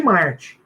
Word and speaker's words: MMarte: Não, a gente chama de Marte. É Marte. Vale tudo, é Marte. Só que com 2 M's.